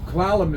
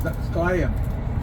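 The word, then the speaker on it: Klallam: But like Clallam is Clallam County, Clallam Bay. That's the English speakers' way of saying our tribal name. Our tribal name is Sklayam.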